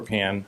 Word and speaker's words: Pan: evening uh pan uh p an like frying pan at 2 23 miltown